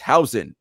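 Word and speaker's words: Huijsen: And by the way, shout out to that YouTuber who told us Dean told you how to pronounce it. It's hous um so we don't want him playing that much and we already said Alibaba we don't know, right?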